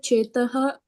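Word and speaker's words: चेताः: So the C is pronounced as Chetaha.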